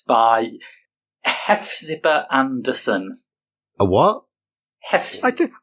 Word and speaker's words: Hephzibah: Is that Hephzibah or Hepzibah? I think it's pronounced Hepzibah. Like I know.